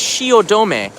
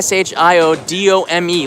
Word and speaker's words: Shiodome: of Shimbashi station is Shiodome a Shi OD ome looks like dome but it's pronounced domain and that used to